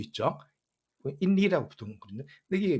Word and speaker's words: INRI: 인리라고 부르거든요. 근데 이게 뭐 영어는 아니고 라틴어입니다. 라틴어. 뭐 굳이 발음하자면은 예수스 나자레누스 렉스 유다에룸, 즉 유다의 왕 나세렛 예수라는 글자의 약자죠.